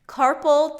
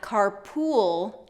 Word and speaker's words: carpal: And both of these are dark L's, meaning dark L's, the tongue drops at the bottom of the mouth.